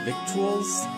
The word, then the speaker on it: victuals: Never heard the word victuals, eh, Speedy? It's lingo out here on the trail. It doesn't look like it, but it rhymes with little.